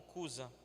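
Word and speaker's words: Cuza: A palavra original é Cusa com CH, tipo Chusa, mas pronunciado como Cusa.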